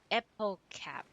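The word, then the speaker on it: Hippocampe: Hippocamp equals epocap. Epocap. Oh, okay, because the H is silent, right, in French.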